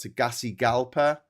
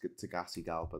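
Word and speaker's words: Tegucigalpa: The capital here is pronounced Tagasi Galpa. Don't ask me why it's pronounced Tagasi Galpa.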